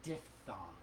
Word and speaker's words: diphthong: is an EPS sound and it's really essentially pronounced diphthong and a diphthong is the consonant blend of